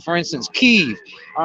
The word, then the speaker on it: Kiev: Like for instance, Kiev. All right, in goddamn Ukraine, it is pronounced Kiev, and I'm getting really sick and tired of a lot of these fucking politicians pronouncing it Kiev.